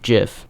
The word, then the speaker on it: GIF: this is why I mentioned earlier that it's pronounced GIF because that's relevant now anyway you want to